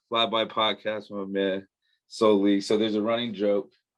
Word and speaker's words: SouLe: had texted me and he said it's pronounced solely so he got jokes